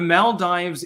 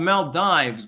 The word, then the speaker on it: Maldives: mald CR the Rubicon I'm going to call it the Mal Dives because uh I'm American and that's the way that an i is supposed to be pronounced ma early worm gets